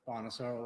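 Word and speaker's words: Bonasoro: My name is Detective Lieutenant Bonosaur. Last is spelled B O N A S O R O.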